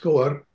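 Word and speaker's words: Skógar: Here in Iceland, there's an extraordinary museum on the south coast, Skogar, pronounced Skoar.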